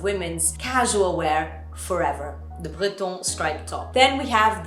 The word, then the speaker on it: Breton: I'm pronouncing it French, Breton from, France, Bretagne.